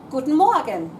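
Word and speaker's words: Guten Morgen: Gates foot Okay so let's go through the pronunciation of everything just in summary good morning guten more again good afternoon or good day couldn't talk good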